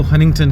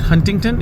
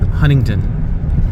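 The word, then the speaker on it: Huntington: आप उनको सुनेंगे तो वो हंटिंगटन कहेंगे जिसमें जो पहले वाला टी है वो साइलेंट है। सो इट्स नॉट हंटिंगटन इट्स हंटिंगटन। The first T is silent.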